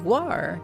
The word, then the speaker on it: guar: You're still hearing that as guar. Well, what is it? Guar? Am I not? Is it not correct? That's the right pronunciation. Guar.